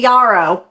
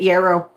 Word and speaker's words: yarrow: You see, you say yaro, but the Canadians that I hear pronounce it yrow.